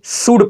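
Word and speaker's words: should: यहां पर है, याद रखिए, डी से पहले आया हुआ एल बिल्कुल साइलेंट होगा, तो इसको भी बंद कर कर पढ़िए आप। तो इसको क्या पढ़ेंगे, शुड पढ़ेंगे।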